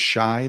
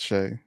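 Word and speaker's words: Shai: yeah, Isn't his name pronounced Shy though? yeah. Well, it's spelled Shy, but I think it's Shea. It's Shea.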